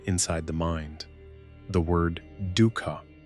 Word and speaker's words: dukkha: The word dukkha, pronounced dukkha, points toward this deep unease.